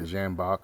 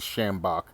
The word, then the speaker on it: sjambok: the video title um it's kind of a weird way to pronounce it or some people call them schambach maybe another way of pronouncing it it's an sj so it kind of i just call it a jambock but it's a schambach is another way that i've heard it pronounced but these things are